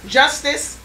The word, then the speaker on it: Justus: solji means soldier just justice we correctly pronounce it justice but it means just us how unique can you